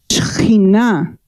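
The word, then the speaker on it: שכינה: Pero en hebreo es Shekhinah. Shekhinah. It's when God's glory falls down, but the pronunciation in Hebrew is Shekinah.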